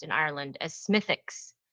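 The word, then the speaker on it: Smithwick's: pronounced in Ireland as Smithix, not Smith Wixs. So, the W is silent. Smithix.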